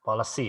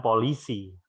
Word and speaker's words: policy: Ya, policy ya dibaca ya. Siap, sir. Bukan polisi, tapi policy ya.